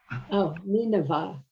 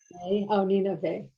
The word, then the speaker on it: Nineveh: Nineveh. Nina, They. Nineveh. Nineveh. How many syllables? 3. 3. And open and closed? Open, open, open.